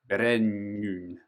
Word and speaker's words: Brennuin: Brennuin kind of had a little bit of actually the the French "u" sound as well.